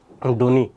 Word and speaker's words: ধ্বনি: বফলা উচ্চারণ আসছে অনেকবার শব্দের শুরুতে বফলার উচ্চারণ হয় না। যেমন ধ্বনি দেখো এখানে দ সাথে কি আছে? ব আছে। কিন্তু আমরা ধ্বনি উচ্চারণ করি।